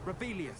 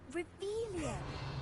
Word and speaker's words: Revelio: Rebellious. Saying it wrong. Ugh, Revelia. Much better.